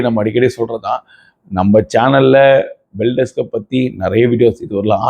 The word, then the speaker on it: Beldex: So again நம்மளுடைய ஃபேவரட்டான topic பில்டெக்ஸ். சத்தியமாகவே எனக்கு இவ்வளோதான் ப்ரொனன்சியேஷன் வருது. இந்த வீடியோ வந்து போட்டிங்கனாலே நீ இதை ஒழுங்காக ப்ரொனவுன்ஸ் பண்ணுன்றாங்க. சத்தியமாக இவ்வளோதான் வருது. பெல்டெக்ஸ், பிஎல்டிஎக்ஸ், பெல்டெக்ஸ்.